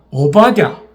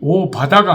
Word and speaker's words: 오바댜: 식구들이 저는 너무 귀합니다 오바댜 발음이 오 바다가 아니고 대하니까 오바댜 바르마이가 조금 쉽지 않습니다마는